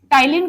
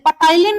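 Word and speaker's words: ptyalin: अब दूसरी चीज, इसका फंक्शन क्या है, टाइलिन का फंक्शन क्या है। अच्छा, इसको टाइलिन पढ़ेंगे, टाइलिन, पटाइलिन नहीं पढ़ेंगे, ठीक है, पी साइलेंट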